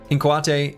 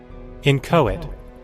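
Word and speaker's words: inchoate: H inquate. Inquate. Shoot. How was that word pronounced? Incoit.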